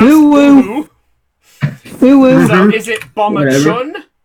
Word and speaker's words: Uhu: That is correctly pronounced. Uhu.